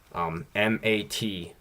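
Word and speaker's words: мат: Probably the best one is MAT without the sign at the end is mat, like like Ruski mat, like their swearing language.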